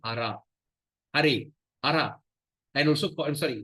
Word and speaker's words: Hare: they call it pronology or vocative case is pronounced as Hare.